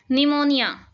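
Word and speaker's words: pneumonia: हैं जिसमें कोई ना कोई लेटर है वह साइलेंट होता है निमोनिया निमोनिया है वह बार-बार कहते हैं बच्चे निमोनिया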